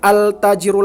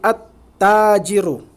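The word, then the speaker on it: التاجر: Syamsiah tak ya tak kita bacanya bukan altajirun lagi lemnya nggak dibaca dileburkan bacaannya berubah menjadi attajiru Nah makanya kita lihat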